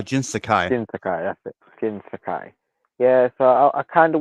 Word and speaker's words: Jin Sakai: Jin Sakai uh Jin Sakai jinai that's it Jin Sakai yeah so I kind of wanted to see